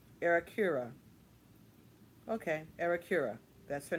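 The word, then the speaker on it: Aerecura: But they do have the pronunciations here. Okay, let's see. Arakura. Arakura. Okay, Arakura.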